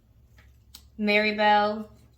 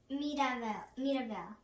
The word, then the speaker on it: Mirabel: when he was showing Maribel. I think that's her name, right? Mirabel. Oh, excuse me, with the Spanish twist to it.